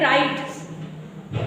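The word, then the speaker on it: write: गया डब्लू हट जाएगा एंड राइट डब्लू आर आई टी आर के पहले डब्लू आया है तो साइलेंट हो गया रेपर डब्लू आर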